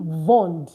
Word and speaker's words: vend: So it's not il vendent, it's il vend. Il, elle vend. Il, elle vend. But guess what? Yeah, you're going to pronounce the D now.